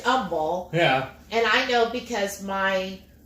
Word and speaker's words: Humboldt: He goes, why do we pronounce it humble? Because there's a freaking H there. But it is humble.